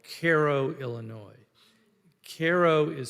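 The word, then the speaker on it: Cairo: I traveled to a a little town called Koo Illinois Koo is spelled c a c AI r o like the city in Egypt but as I quickly found out it's pronounced Koo um I went there to report report for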